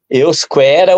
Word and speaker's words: Euskera: Euskera ou Euskara, se lê da mesma, de duas formas.